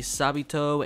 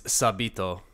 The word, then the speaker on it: Sabito: No, because in Japanese, I'm sure they say just Sabito.